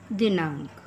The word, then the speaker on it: दिनांक: इस प्रकार बनाएंगे च दिनांक बच्चों यहां पर यह अंग की बिंदी साइलेंट होती है तो इस तरह से